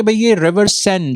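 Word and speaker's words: Seine: जिसके बाय द वे इसके स्पेलिंग है एस ई आई एन ई एन E sorry but इसको river सेन बोला जाता है अ प्रोनाउंस किया जाता है इसमें 100 साल से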